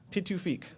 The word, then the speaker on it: Pituffik: So for those of you that aren't familiar, it's now called Pituffik. Did I pronounce that right? Pituffik? Pituffik.